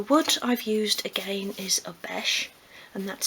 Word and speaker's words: Obeche: The wood I've used again is Obeche, and that's spelled O-B-E-C-H-E, and it's just a nice fine grained craft wood.